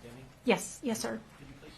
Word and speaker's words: Deming: Miss Deming is pronounced Deming?